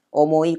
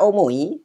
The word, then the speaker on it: 思い: Kata omoi itu hurufnya seperti ini. Jadi ada dua versi ya. Omoi masnya ditulis dengan huruf kanji yang begini. Dan yang satu lagi begini. Itu sama-sama aja bacanya kata omoi.